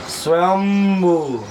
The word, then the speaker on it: स्वयंभू: उसका जो शुद्ध उच्चारण है वो क्या है? स्वयंभू।